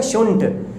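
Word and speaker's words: shouldn't: देखिए शुड नॉट का हम लोग यूज़ शॉर्ट में करते हैं शुंठ के रूप में। किसके सेंस में? शुंठ, यानी सूंठ नहीं बोलना है, प्रॉपर चाय में डालने वाली शुंठ, ओके।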